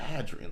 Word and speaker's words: Hadrian: or hyr wall now you're a long a with the Hadrian I'm a short a with the Hadrian Wall something else we need